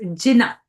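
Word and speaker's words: Jina: Uh, I don't know if what how you pronounce that in is Gina.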